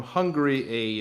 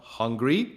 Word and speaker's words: Hungary: just uh google hungary it's not hungry it's spelled hon gary like g-a-r-y so everybody makes fun